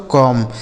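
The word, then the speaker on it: comb: है सी ओ एमबी इसे पढ़ा जाता है दोस्तों कॉम्ब सी ओ एमबी कॉम्ब इसे कॉम्ब कॉम्ब नहीं पढ़ा जाएगा। ऐसे देखिएगा इसको हम ऐसे नहीं पढ़ेंगे। कॉम्ब गलत उच्चारण हो जाएगा।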